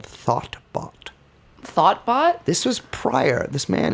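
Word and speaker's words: Thotbot: Thoughtbot? This was prior. This man is Thought, T-H-O-T? 2 T's. Close. But it's pronounced the same.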